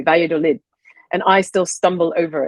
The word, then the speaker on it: Valladolid: Yeah, I have to confess, I wasn't sure if I should use the Spanish pronunciation. I was thinking of Vaya, right. But I didn't want to seem pretentious, so I bungled it, and I bungled it in the normal English manner.